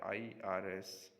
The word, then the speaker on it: IRS: letters such as the irs internal revenue service which is pronounced as three syllables if it were a